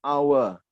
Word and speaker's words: hour: Ya, because the H letter is silent.